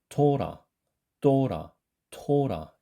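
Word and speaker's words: תורה: 그런데 이것을 유대인들이 읽는 것을 실제로 이렇게 들어보면 거의 쌍디귿처럼 발음을 하면서 또라처럼 들리더라는 거예요.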